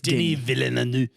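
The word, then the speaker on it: Denis Villeneuve: Dilly Denny Denny vainu but it's spelled Dennis with yes but he's French okay it's Denny villu he is a genius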